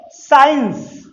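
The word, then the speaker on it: science: के बाद सी आया, तो जब एस के बाद सी आए तो सी साइलेंट हो जाता है।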